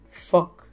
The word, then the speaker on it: phoque: Nous avons aussi phoque. Phoque. Le P et le H se prononcent comme un F.